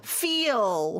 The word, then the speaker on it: feel: feel, feel.